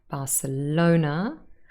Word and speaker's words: Barcelona: has one syllable and barcelona has four and here it's the third one barcelona next year again only